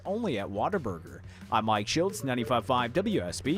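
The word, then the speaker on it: Whataburger: it's water a burger well it's Water Burger that's how water B that's how you're supposed to pronounce second of all how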